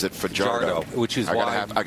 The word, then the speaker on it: Fajardo: But he pronounces it fajardo, which is I got to have I got to have your back.